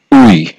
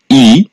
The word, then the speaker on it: 의: উই এর উচ্চারণ হলো তিনটি। এক নাম্বারে উই। দুই নাম্বারে ই। তিন নাম্বারে এ।